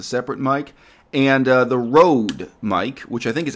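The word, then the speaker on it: Rode: mic and uh the road mic which I think is actually pronounced Ro but everyone pronounces it Road r o d e but it is not an English name uh and it's their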